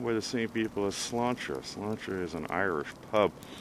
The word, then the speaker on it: Sláinte: So if you ever go to Sláinte, it really is an Irish pub. I believe it's slánteirishpub.ca is the website. Sláinte, by the way, is Gaelic for cheers, and it's spelled S-L-A-I-N-T-E, but pronounced Sláinte.